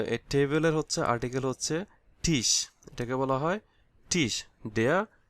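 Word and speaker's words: Tisch: তাই না তাহলে এই টেবিলের হচ্ছে আর্টিকেল হচ্ছে টিশ এটাকে বলা হয় টিশ দেয়ার টিস দা টেবিল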